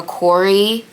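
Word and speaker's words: CORI: You also have to pass a Corey, I think it's Corey check, that's how they say it.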